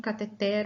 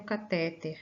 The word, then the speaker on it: cateter: Não se preocupem se por acaso vocês encontrarem cateter ou catéter, né? Essas duas formas de escritas elas acabam sendo encontradas, e apesar de não haver um consenso em qual é a forma correta de se escrever e pronunciar, porque isso tem a ver numa discussão em função da origem dela, grega, do latim, né? Se vem do latim, vem do grego, cada uma ela recebe uma acentuação diferente, mas é possível encontrar, tá?